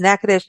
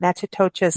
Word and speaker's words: Natchitoches: That's how Natchitoches is spelled and pronounced as Natchitoches, not Natchitoches, as I said for many years.